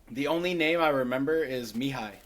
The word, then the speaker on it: Mihai: It's No, spelled like it's I think it's Mihai. Mihai. Spell that again.